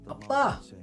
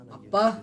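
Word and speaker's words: 아빠: Appa In Yemen to call the father we say "Abah" .. Abah Appa with a double "P" Appa same pronunciation in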